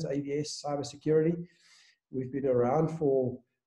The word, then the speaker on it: AVeS: So it's pronounced AVS, the E is silent, AVS, cybersecurity.